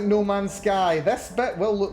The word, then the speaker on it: No Man's Sky: Oh, well, that's Nomansky. Nomansky would be one way of saying it, but the game is No Man's Sky. As in the sky that belongs to no man.